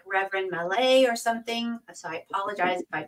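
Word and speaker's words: Maillet: It's pronounced.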